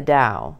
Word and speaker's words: Dao: that which Lao Zoo called the Dao pronounced Dao d-o-w literally translated this means